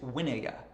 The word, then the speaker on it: vinaya: is householders the householders winaya so winaya is a word that is not spelled the way it sounds it is spelled v-i-n-a-y-a